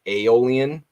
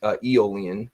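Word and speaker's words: Aeolian: eolian for the longest time I used to pronounce it aolan until I looked it up and it is eolian technically is the correct pronunciation so um you're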